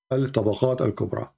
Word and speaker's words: At-Tabaqat al-Kubra: Al-Tabaqat al-Kubra.